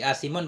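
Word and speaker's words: آثم: Walhal annahu asimun bil maddi, asimun bacanya dengan mad, asimun ai asin, dia itu maksiat dengan ini wata.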